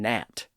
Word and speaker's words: gnat: But sometimes we have a G in words that isn't pronounced at all. That's especially true for the G at the front of words like no and gnat. In those words, the G was once pronounced as ganal or ganat.